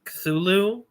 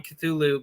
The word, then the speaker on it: Cthulhu: was probably culu um which by the way uh some people I already know are going to be in your comment section like no it's pronounced this other way uh Lovecraft himself definitively said that it doesn't matter how you pronounce the name cthulu because it was never intended to be pronounced by the human tongue so uh Checkmate purists